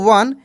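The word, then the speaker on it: one: देखिए यहां पे लिखा ओ एन ई इसको पढ़ेंगे हम लोग वन।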